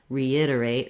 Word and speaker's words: reiterate: But just notice that reiterate, re is going to have a little bit of glide there. My letter I in reiterate is the lax sound. And here it's the stressed vowel. So the ID syllable is long. The reiterate other syllables are shorter.